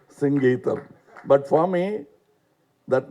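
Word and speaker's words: Singeetam: For once and all in Kodambakkam, there was always a confusion how to pronounce this name. In Tamil Nadu, he used to get very upset because they missed the Sangeetham. No, it is Singeetham, please.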